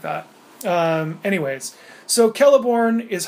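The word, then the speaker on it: Celeborn: said hey bro it's I think it's pronounced kelborn with a K and I was like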